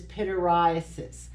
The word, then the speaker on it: pityriasis: So when I say pityriasis, I always think of me standing here with a black shirt on and the little white flakes are falling like snow on my shoulder, and I'm thinking, everybody needs to pity me because of all these white flakes.